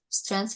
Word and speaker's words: strength: it means yeah so strength immediately th without G strength and weaknesses so I'm